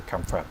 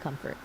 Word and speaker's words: comfort: I wanted to confront my friend after I heard the bad news. Wait, let's stop right there. You actually just said confront instead of comfort.